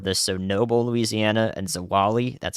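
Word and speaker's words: Zwolle: the core of this so Noble Louisiana and zawali that's how you pronounce that and uh to to Many Louisiana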